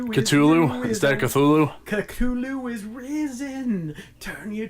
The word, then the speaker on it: Cthulhu: or Cthulhu huh huh you're opposed to put the tongue in the roof of your mouth and bark it out like a dog seriously that's how you pronounce Cthulhu it's meant to be